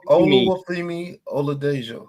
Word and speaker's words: Oluwafemi Oladejo: It's Oluwafemi Oladejo.